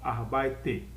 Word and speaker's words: arbeite: Lembre-se que E no alemão, E no final, eu tenho que pronunciar. Diferentemente do inglês, que E no final não se pronuncia, no alemão o E pronuncia. Então, arbeite, quer dizer, trabalho.